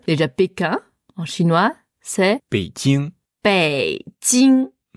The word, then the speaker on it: Beijing: Déjà, Pékin, en chinois, c'est Beijing. Beijing. Beijing. Bei, c'est quel ton? 3e ton. Ouais. Jing. Jing. 1er ton. Ouais.